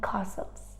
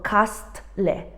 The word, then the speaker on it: castle: letter is silence and all these words have in common a silent t we don't say things like listen or caste Le we say listen Castle